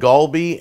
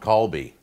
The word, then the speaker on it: galbi: I think it's called, there's two ways you can pronounce it. One's called Galbi, and one's called Galbi. A K and a G. The Wikipedia said Galbi, so I'm going to go with Galbi. We'll go with the G version.